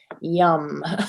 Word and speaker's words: Yam: So I just wrote here, you know, it's spelled like yam, but really you say it like yum. So I just put like the both ways to say what the mantra was there.